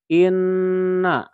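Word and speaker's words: إِنَّ: Nunnya double, karena dua kali ya. Jadi lamanya sebanyak 2 kali juga, ya. Inna, inna. Maka untuk mempendekkan ditulis seperti ini saja. Dengan cukup dikasih tasdid, maka ini juga sama dengan inna.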